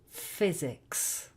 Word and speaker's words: physics: And finally, a Y in the middle of a word can also produce the sound I. For example, in physics.